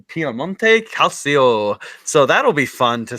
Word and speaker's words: Calcio: Yeah, Calcio.